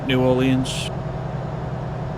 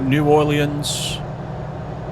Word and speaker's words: New Orleans: are now, down to New Orleans. Or New Orleans, depending on how you say it.